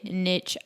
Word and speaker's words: niche: looking for a niche is it niche or niche because i've always said niche and then i hear people say niche and i'm like have i been saying it wrong this whole time it's it's it's both ways but okay i yeah i say both videographers out there that